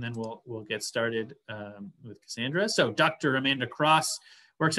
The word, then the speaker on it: Cassaundra: We'll turn it over to Cassaundra, is the correct pronunciation.